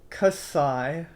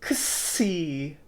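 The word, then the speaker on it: ξι: Kasai, kasai. Yeah, a sigh of relief that you are learning these letters correctly. Ksi, ksi. Yeah, doesn't exist in English. It's the K and S together.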